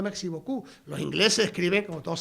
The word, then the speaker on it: merci beaucoup: Merci, con C, no merci, y beaucou, terminado en P, y lo que pronuncia merci beaucoup.